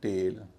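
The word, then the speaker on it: tail: ए आई एल टेल अब ये टी आई एल टेल और टी E double L टेल दोनों में अंतर सुनिए टी E double L टेल टी आई एल टेल छोटा ए लंबा ए ई है इसलिए छोटा ए टेल ए आई है लंबा ए इसलिए टेल डब्ल्यू ए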